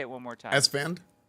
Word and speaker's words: Esfand: Esfand. Esfand. Okay, Yeah. it's basically you pronounce it exactly how it's spelled Yeah, and not yeah.